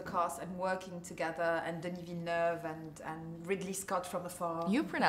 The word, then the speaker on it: Denis Villeneuve: And tell us about the rest of the cast and working together, and Denis Villeneuve and Ridley Scott from afar. You pronounce his name very well. Yeah, well, I'm French educated.